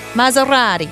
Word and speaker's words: Maserati: Why is it an S and not a Z? Is it Maserati? No, it's S. Maserati? That's how you say it? Yeah. Maserati? It's Italian. Maserati.